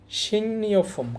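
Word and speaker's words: 식료품: অথবা সাপ্তাহিক বিশেষ ডিসকাউন্ট অফারের আয়োজন করে সিংনিয়ফুম খাদ্যপণ্য এখানে দেখেন উচ্চারণটা হবে সিং নিয়ংনিয়ফুম গিয়ক বা সিমের পর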